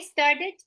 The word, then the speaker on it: started: The word ending with T or D, you have to pronounce like it sound, right?